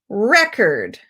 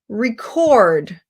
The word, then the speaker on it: record: word so for example if we have record where it's two syllables the stress is on the first syllable record that's a noun that's a thing record it's spelled exactly the same way but by pronunciation you'll know that that's the verb record noun record verb